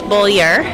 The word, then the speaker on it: Beaulieu: It's Beaulieu. Beaulieu? Yes. Even though there's no R in it, though, is there? But No, but R it's pronounced that way.